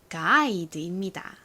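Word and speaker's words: guide: 이렇게 아이 소리가 나는데요 이 아이랑 g의 사이에 허깨비가 하나 들어 있습니다 어떤 알파벳이었죠 바로 유입니다 육아 g와 함께 붙으면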